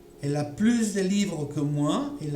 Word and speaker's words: plus: Voici donc un autre cas où on va entendre plus avec S. C'est dans des expressions comme à plus, de plus, en plus. Ok? Voilà, dans ces cas-là, on entendra toujours le S, plus.